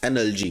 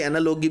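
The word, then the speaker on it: analogy: उसको हम बोलते हैं एनालॉजी। मैं एनालॉजी भी, एनालॉगी भी बोलते हैं, डिफरेंट प्रोनाउंसिएशन होती है, मैं आसानी के लिए एनालॉजी बोल देता हूं, इसको एनालॉगी भी बोलते हैं।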